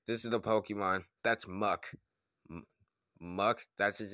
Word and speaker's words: Muk: Yeah, that's just Muk. Oh, well, that is Muk. Oh, and also, it rhymes with puck, like a hockey puck, and rhymes with duck, and also rhymes with...